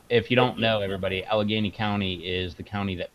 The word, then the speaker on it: Allegheny: Yeah, if you don't know, everybody, Allegheny County is the county that Pittsburgh's in. Which, if JT's watching, that hot sauce that he tried, it's pronounced Allegheny, not Allegheny.